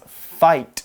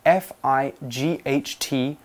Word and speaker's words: fight: So we don't pronounce the G-H, we just pronounce it as an I sound.